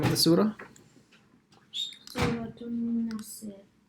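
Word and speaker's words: نصر: Nasr. Not Nasir. Nas. Yeah, so Sad has to be pronounced with a sakin, with a sukun, and then the ra as well.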